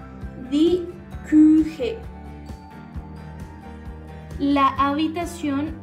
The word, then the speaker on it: Küche: Si de pronto se te dificulta pronunciar la U con un umlaut, que son los dos punticos de arriba, vas a hacer el siguiente ejercicio. Vas a pronunciar una I, pero vas a hacer la forma de una U con tu boca, de manera que suene U. U.